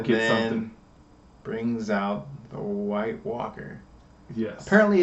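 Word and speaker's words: wight: Which makes me think it's like Whit Walker, but I guess it's pronounced White Walker. That's how I say it.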